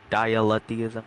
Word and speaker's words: dialetheism: Dialetheism. How do you pronounce it?